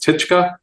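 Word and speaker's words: Ptichka: So that's 1001, and then it's called Tichka, which has a silent P at the beginning, and that's Russian for little bird.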